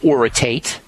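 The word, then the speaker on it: orotate: One of my favorite is lithium oritate. And that second word is spelled O R O T A T E.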